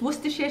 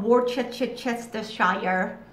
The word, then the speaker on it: Worcestershire: It's Worcestershire sauce, not Worcestershire.